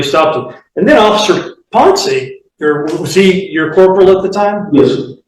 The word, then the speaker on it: Ponce: And Officer Ponce, is that how you pronounce his name, Ponce? Ponce.